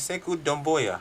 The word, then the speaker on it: Sekou Doumbouya: His name is Sekou Doumbouya.